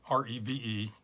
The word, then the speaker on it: Reve: from Rev Brewing have re ve I think it's pronounced Rev in Atlantic Beach Florida